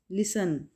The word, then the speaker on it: listen: लिसन में T silent होगा और इसको हम लिखेंगे लेकिन प्रोनाउंस नहीं करेंगे, ठीक है। LISTEN, लिसन, T silent word होगा, लेटर होगा, ठीक है। टी साइलेंट लेटर है यहाँ पे।